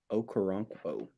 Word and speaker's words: Okoronkwo: I pitched this idea a couple days ago because Christian had a hard time pronouncing one of the new players the Browns got, Ogbo Okoronkwo. Okoronkwo.